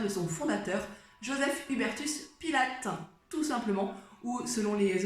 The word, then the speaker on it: Pilates: son fondateur joseph hubertus pile acte tout simplement août selon les origines on raconte prononcer puis lattès moi je fais à